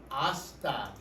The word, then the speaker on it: hasta: Hasta. Right? Hasta. Spelled with an H. The H is silent.